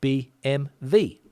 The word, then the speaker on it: BMW: m w but Spanish people like to say b m v whatever reason don't know and that's one word